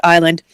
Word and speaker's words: island: torna's like uh theresa there's a silent s in the word island that does it i'm